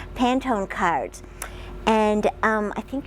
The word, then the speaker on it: Pantone: to select face down Pantone I think that's how it's pronounced Pantone cards and um I